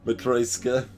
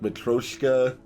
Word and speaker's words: Matryoshka: I believe I've always flipped the O and the Y in my pronunciation. I have no idea how else to pronounce it. Matryoshka. Not that it's a word I've said. Let's see, I've probably said like Matroshka. Just like leave the Y out entirely.